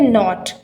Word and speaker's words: knot: अब नेक्स्ट देखिए नॉट. अब NOT भी हम लिख सकते हैं क्योंकि KNOT में के जो है वो साइलेंट है, इसीलिए नॉट को का